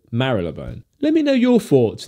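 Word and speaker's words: Marylebone: he goes uh tom you don't pronounce melodyne right it's mary leboue i kind of mentally flip a coin each time i say it so sometimes i say marleybone sometimes i say marilla bone let me know your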